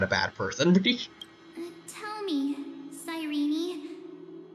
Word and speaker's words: Cyrene: Cyrene was always supposed to be pronounced with an E at the end.